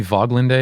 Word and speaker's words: Woglinde: the game please also wouldn't it probably be voglinda I didn't have I